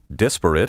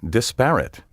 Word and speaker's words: disparate: is often mispronounced impotent disparate is often mispronounced disparate gondola is often mispronounced